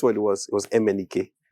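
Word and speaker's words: MNEK: him and guess what it was it was m andk m andk yeah he just made that's what I thought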